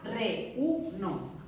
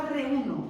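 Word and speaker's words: reúno: tilde a día o le ponemos tilde a re-u-no, que son tres sílabas. Si yo a re-uno no le pongo tilde, tengo que leer re-uno, como tengo que leer reina.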